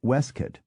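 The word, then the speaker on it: waistcoat: surprised to learn that the correct or at least historic pronunciation of waste coat is weskit of victuals is vittles of forehead is forid and of comp troller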